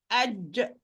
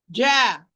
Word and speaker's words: ج: Do not move your vertically or as if you're pronouncing fatha or kasra. No. Aj.